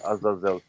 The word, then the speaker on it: Azazel: because I was saying Azazel. Yeah, we were struggling on that one. You can pronounce it either way, because sometimes it's spelled EL and sometimes it's IEL, and it's just a transliteration.